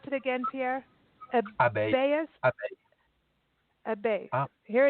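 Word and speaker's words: abeille: Now, okay, now pronounce it again, Pierre. Abbey.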